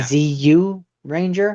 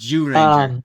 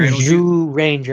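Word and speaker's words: Zyuranger: ZU Ranger. It's pronounced Jew Ranger. Like Zhu yeah, Ranger. like Jew, like dreidel Jew. Zhu Ranger.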